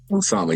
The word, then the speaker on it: Osama: Osama, yes, ma'am.